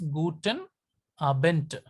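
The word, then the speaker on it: Abend: guten are bent another another rule is that final D final D is pronounced as star final D is pronounced test so it is guten a bent not good enough bent okay good evening or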